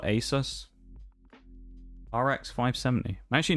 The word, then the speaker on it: Asus: Bring in, I guess, a Zeus, isn't it? Technically the way that people pronounce it. Oh, Shags has died. A Zeus or Asus.